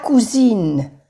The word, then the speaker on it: cousine: Pero cuando se le añade una E de femenino, ya se pronuncia cousine, cousine. Cuando hay una S, se pronuncia suave la S, más como una Z. Cousine, la cousine. Pero no se pronuncia la I.